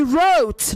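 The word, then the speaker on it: rote: not social social okay you also say root not root root learning the word is r o t e not r o t Okay root learning not root learning um enthusiasm for a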